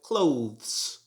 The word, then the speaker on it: clothes: after dinner number eleven this word should be pronounced like clothes clothes it should not